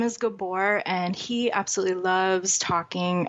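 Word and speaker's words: Gábor: to come and you say his name is kabor which happens to be the name of at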